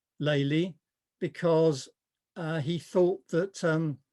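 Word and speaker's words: Lely: before i go on some of you might pronounce the name uh leli and you can say whatever you like and in fact i've listened to talks by world leading experts and they all pronounce the name differently even at the same event american art historians tend to say lily the reason i say laylee is because of the derivation his name was actually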